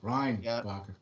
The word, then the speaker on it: Reinbacher: Hey, a goalie that pronounces the name correctly, Ryan Bacher.